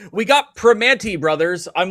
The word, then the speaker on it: Primanti: she's like, "We got Primanti brothers." I'm like, "That's too many consonants. There are not that many consonants in Permanis. It's Primanee. That's it. There you go. The T is silent."